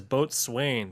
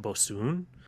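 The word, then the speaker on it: Boatswain: The can looks like it says Boat Swain, but the can actually says you pronounce it Bosun.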